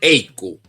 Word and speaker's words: ECU: si me lo permites el euro es el sucesor del ecu pronunciado eco o sea del european currency United en 1995 el canciller de Alemania helmut call señaló que eiku le sonaba igual a incu que en alemán significaría una vaca por este motivo se